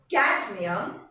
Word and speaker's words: cadmium: Can you pronounce cadmium without saying the D? A is there, but the D is more pronounced, cadmium. Without the D, you will not be able to move to the next syllable.